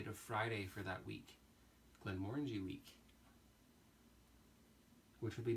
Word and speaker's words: Glenmorangie: course because this is Glenmorangie rhymes with orange e onto Oh what